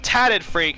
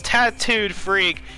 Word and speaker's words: Tattooed Freak: I've been saying his name wrong from World Cup, and again here today, instead of Tatted Freak, it is Tattooed Freak, here representing Apex.